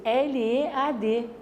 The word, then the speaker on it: lead: A forma original dele é escrita em L-E-A-D. A pronúncia é lead, vem do inglês.